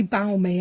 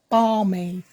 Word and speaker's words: balmy: I say balmy, and I know it's not balmy at all. It's balmy.